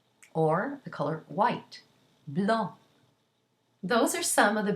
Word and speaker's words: blanc: And so let's look at some words where the final consonant is not pronounced. Let's go back to our color green in the masculine singular. Vert, or the color white, blanc.